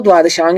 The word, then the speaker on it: द्वादशांग: तो सही उच्चारण तो द्वादशांग ही है।